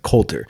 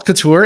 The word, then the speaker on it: Coulter: I was like, "Coulter," and we made a joke. We're talking about like how to pronounce it, how it always gets pronounced wrong,